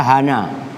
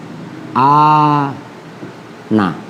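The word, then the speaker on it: أنا: Ini ada 3 cara baca. Kadang-kadang dibaca hana, kadang-kadang dibaca ana. 3-tiganya ini maknanya sama. Nah ini, oke, itu maksudnya fihi salasu lughatin. Jadi cara baca ana kadang hana, kadang ana.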